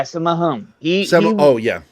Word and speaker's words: Sammo Hung: Yeah, Sammo Hung.